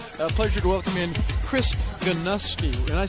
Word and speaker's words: Chris Geinosky: Halftime Report is brought to you by HyVee and Liberty, and it's a pleasure to welcome in Chris Geinosky.